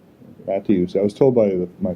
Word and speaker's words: Mattiussi: It's Mattiussi, and you pronounce the T as a hard T, and then you get the I in there. Mattiussi.